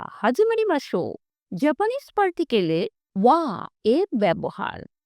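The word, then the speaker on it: は: হাজিমারি মাসো Japanese পার্টিকেলের ওয়া এর ব্যবহার। হিরাগানা হা বর্ণটির উচ্চারণ হা, কিন্তু আমরা যখন এই বর্ণটি পার্টিকেল হিসেবে ব্যবহার করব তখন এর উচ্চারণ হবে ওয়া।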